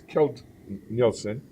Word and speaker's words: Keld Nielsen: here at sing 2018 it's and if I mispronounce that I apologize kilt Nielsen it's perfect really Jeff is the manager of